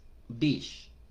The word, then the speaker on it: beach: Entonces, playa es beach, beach, es decir, es el sonido de una I natural, beach, a pesar de que es una combinación de una E y una A.